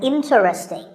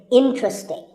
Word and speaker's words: interesting: number 11 is interesting this is mispronounced sometimes as interesting but there are only three syllables and the stress is on in so the word is interesting number 12 is hotel